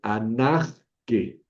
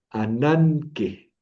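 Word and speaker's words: ἀνάγκη: Entonces, aquí no voy a leer anag que anag que ve que es difícil pronunciar eso, ¿no? La gama primera la voy a pronunciar como una ni. Ananque. Ananque. H.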